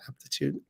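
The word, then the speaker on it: Apretude: Aptitude?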